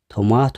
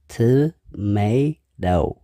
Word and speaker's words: tomato: እዩ potato ሓምሻይ tomato ብዙሓት ሰባት ቶማቶ ይብሉ እዮም ግን ቁኑዕ ኣይኮነን እዚ እውን ብተመሳሳሊ ሰለስተ syllable ኣለዎ tomato እቲ stress እውን ኣብቲ ካልኣይ syllable እዩ ዘሎ tomato ሻድሻይ carrot ብዙሓት ሰባት